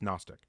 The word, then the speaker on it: Gnostic: You can find the Gnostic Bible in uh Dorian, it's just not Dorian, the G is silent. It's just Gnostic.